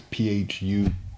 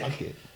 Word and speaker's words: Phuket: But really they were mispronouncing Phuket. It's Phukat. But they were calling it Phuket.